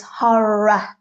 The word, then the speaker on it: horror: with the pronunciation I I sort of hear a lot of my students try to go horror Roar because we think our horror but it's horror so it's got a a sound at the end the